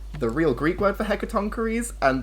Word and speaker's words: Hecatoncheires: real Greek word for Hecatoncheires, and then the pronunciation tonk with a K, rees, double E.